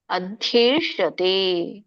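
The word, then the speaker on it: ಅಧ್ಯೇಷ್ಯತೇ: ಧರ್ಮಂ ಸಂವಾದಮಾವಯೋಹ ಜ್ಞಾನಯಜ್ಞನತೇನಹಂಸ್ಯ ಯಾಮಿತಿವೇಮತಿಹಿ ಇದರೊಂದು ಉಚ್ಚಾರಣೆ ಅಧ್ಯೇಷತೆ ಅದ್ದಿ ನೋಡಿ ಮಹಾಪ್ರಾಣಗಳಿದೆ ದೀರ್ಘ ಇದೆ ಅಧ್ಯೇಷತೆ ಶ ನೋಡಿ ಮೂರ್ಧನೇಷ ಅಧ್ಯೇಷತೆ ದೀರ್ಘ ಇದೆ ತಕ್ಕೆ ಎಳಿಬೇಕು ಛಯ ಇಮಂ ಇಮಂ ಮುಂದೆ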